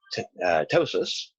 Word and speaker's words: ptosis: and bacterial and then ptosis the P is silent that is the drooping